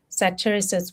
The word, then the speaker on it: satyriasis: Satiriasis, which is almost like a I don't even know if I'm saying it correctly.